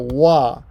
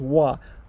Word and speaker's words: は: every sort of thing this is the hiragana wha however when it is the subject or topic marker it is pronounced at well hold on it's a topic